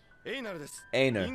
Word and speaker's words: Einar: Einar, that's how you say his name. Einar.